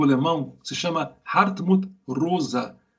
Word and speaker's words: Rosa: que se chama Hartmut Rosa. Se escreve Rosa em português, só que você fecha o O. É como Guimarães Rosa.